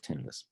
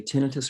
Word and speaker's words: tinnitus: Oh, and just by the way, you can say tinnitus or tinnitus. Either way I was is going to say, I think I said it wrong, but. no, but there's no right and wrong.